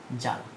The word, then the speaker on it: জ্বালা: জ্বালা। তাহলে এই জ্বালা এখানে বটি উচ্চারিত হচ্ছে কি একইভাবে ক। উচ্চারণ কি? দেখো বফলা কি উচ্চারিত হচ্ছে? উচ্চারিত হচ্ছে না প্রিয় শিক্ষার্থীরা।